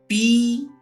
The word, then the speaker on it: psalm: PSALM, this is psalm.